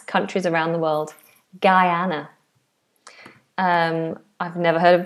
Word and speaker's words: Guyana: So, this is Guyana. Guyana. Similar to my name with Guy on the beginning.